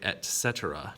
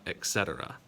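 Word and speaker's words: etc.: add at the end you say etc not etc there's no x in there it is a t sound etc also what is the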